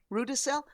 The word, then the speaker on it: Rudesill: how to pronounce it rue de sel well it's very easy I just think of people who are snotty when you go to buy something they're rude rude to sell although I think your